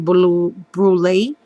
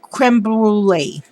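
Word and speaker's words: crème brûlée: um sprayed the box with the lindy's cream blue brulee spray i'm so sorry i mispronounced that the um creme brulee yeah and then i also added some lace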